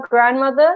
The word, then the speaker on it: grandmother: So don't forget, Elvira, when we spell grandmother, even though we don't really pronounce the D, there is still a D in there.